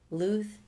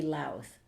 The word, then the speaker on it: Louth: Callum McNamara says, I'm from Louth, Ireland. It might be Louth. Oh, yeah. It's spelled like mouth. But I feel it's Louth.